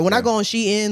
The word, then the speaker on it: Shein: ever heard say Shein. it's Shein because everybody pronouncing it wrong. Right. Yeah, literally I everybody. had to Google it because Shein, yeah.